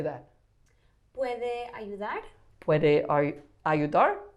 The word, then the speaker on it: puede: Puede. Puede.